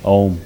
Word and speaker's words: Om: But for instance, we will practice this mantra chanting with using the sound of Om, which is 3 syllables, A, U and Ma.